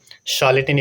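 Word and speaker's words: charlatan: शॉलेटन इसका प्रोनाउंसिएशन होता है, मतलब होता है झूठा आदमी।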